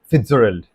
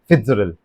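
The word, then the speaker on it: Fitzgerald: That's F Scott फिट्जजेराल्ड। किसने लिखा है? F Scott फिट्जजेराल्ड।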